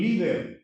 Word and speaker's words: líder: Dice que el líder, opa, palabra grave que termina en consonante que no ns. Ahora sí podemos colocar acento.